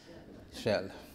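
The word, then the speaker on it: Kjell: And I used to say, if you know how to pronounce this oil company's name, Shell, then they know, then they...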